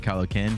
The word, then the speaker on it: Kylo Ken: I just think my love for Star Wars, and then I think a bunch of fans started calling me Kylo Ken because it rhymes with Kylo Ren.